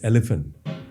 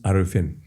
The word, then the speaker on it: Ariffin: about in in fact she referred to him as elephant because she could not pronounce arafin, you know, elephant.